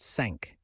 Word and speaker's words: cinq: Number 5 in French is cinq, pronounced cinq.